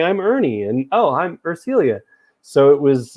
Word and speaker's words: Urcelia: And, oh, I'm Urcelia. So it was like internet friend. But now you have it, Urcelia.